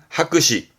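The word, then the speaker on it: 白紙: 발음은 하크시.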